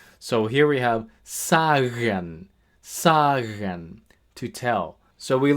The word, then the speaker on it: sagen: So, here we have sagen, sagen, to tell.